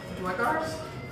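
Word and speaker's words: Duergar: From there, we encountered a group of travelers, gnomes, dwarves, and one Dwegars?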